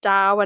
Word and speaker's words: Tao: implementation aspect of the tow Dao sorry it's pronounced Dao and dosm but it's spelled to and taism